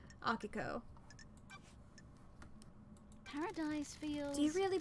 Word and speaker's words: Akiko: I was just like, I'll just say it like it's a Japanese word. Akiko.